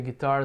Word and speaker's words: guitar: Did you play the guitar the day before yesterday? Aqui tem um detalhezinho, né? Violão é o mesmo que guitarra. Guitar, sílaba tônica é a segunda.